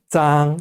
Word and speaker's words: 脏: 짱 하면은 더럽다라는 뜻이에요. 발음은 짱 이렇게 발음합니다.